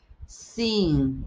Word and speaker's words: sim: Sim. Sim. Não se pronuncia a M al final de las palabras em português. Sim. É como uma espécie de N. É uma I nasal.